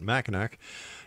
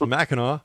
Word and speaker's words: Mackinac: dot-com and once again don't make that mistake I made by calling it mack nack it's Mackinac hunts of Mackinac and